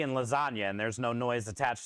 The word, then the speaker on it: lasagna: and lasagna why is there a g and lasagna I don't know why is there a j